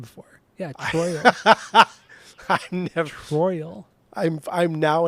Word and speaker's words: Troyal: no he was oh dude he was born troyal G Brooks so his first name is spelled t r o y a l tro